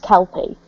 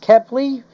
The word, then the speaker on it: Kepley: So, right, just out of character slightly, is Andrew's name actually pronounced Kelpie? No, it's pronounced Kepley, but Kepley.